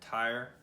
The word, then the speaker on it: Tyr: red planet, and here's Twi. And it's spelled a little different in some places. Sometimes it's with the E and the I and all that, but it's Twi, and or Tyre, and he is a one-handed.